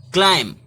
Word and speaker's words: climb: इसी तरह CLIMB, क्लाइंब, ब नहीं बोलेंगे, क्लाइंब नहीं बोलेंगे, क्लाइंब नहीं बोलेंगे, क्लाइम, क्लाइम। क्या बोलेंगे?